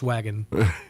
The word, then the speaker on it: Waggin: to walk over Wellness Wagon 3 times and not reference the fact that it's spelled W-A-G-G-I-N. It is, Joe. Yes, it's wagon, yes, like wagging your tail.